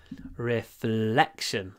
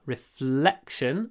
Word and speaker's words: reflection: Reflection. L, a long L. Reflection, but then a short E before the unvoiced K. Reflection. Reflection. Lots of F actually as well.